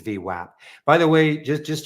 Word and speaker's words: VWAP: and so and and they said it is not vwap it's vwap by the way just